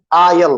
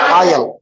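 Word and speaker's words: aisle: Okay, here also S is silent, so this is pronounced as I-L. कैसा पढ़ेंगे इसको हम? I-L.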